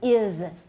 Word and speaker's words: is: it's written as s but is it voiced or voiceless it's voiced except in taiwan english it often is voiceless right but remember that remember to fix that because is is voiced so normally we should we should voice the sound the s in is now there's a reason for